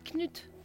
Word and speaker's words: Knut: Ça se dit Knut. Ah, Knut. Non. Knut. Knut. Non.